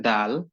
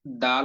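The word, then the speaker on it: دال: জায়গা থেকেই উচ্চারিত হয় দাল অক্ষরের মাখরাজ হচ্ছে জিহ্বার আগা সামনের উপরের দুই দাঁতের এর গোড়ার সঙ্গে যুক্ত করে দাল অক্ষরটি উচ্চারণ করতে হয় তো আপনারা সকলে একটু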